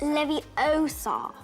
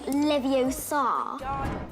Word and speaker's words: Leviosa: sure to remember that the spell is pronounced Leviosa not Leviosa or else you might take away 10 points from Gryffindor it's Levy oh song not Leviosa anyway did you know